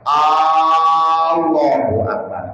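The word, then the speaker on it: الله أكبر: Enggak boleh memanjangkan lafaz A-nya ketika lafaz Allah. Allahu Akbar. Enggak boleh.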